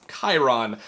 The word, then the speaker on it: Chiron: And yeah, it's spelled Chiron, but it's pronounced Chiron.